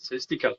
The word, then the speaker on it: Celestical: Am I pronouncing it right? It's perfect. Celestical.